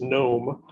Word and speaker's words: Gnom: about a system called the gnom pronounced gnome that was basically a